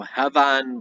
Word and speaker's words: heban: Heban, often the B is pronounced as a V, occurs with the word Wanga. So Hevan Wanga is the Old English and the Old Saxon way to say the meadow.